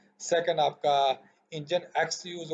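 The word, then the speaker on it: nginx: हमारे पास इंजन है जिसको हम इंजन एक्स के साथ प्रोनाउंस करते हैं, इज़ the sound most popular open source web server.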